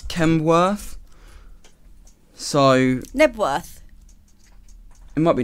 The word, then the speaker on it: Knebworth: I think it's Knebworth. So... Knebworth. It might be Knebworth. Is it Knebworth? Yes, it's Knebworth.